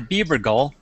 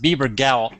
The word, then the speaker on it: Bebergal: two guests today my first guest is Bieber goal and uh actually pronounced Bieber gal Gaul is that right you got it sure